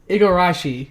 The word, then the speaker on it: Igarashi: no longer support Mac the name Igarashi thank you a garage I think I know his name I might've been mispronouncing in all these years but no yeah Igor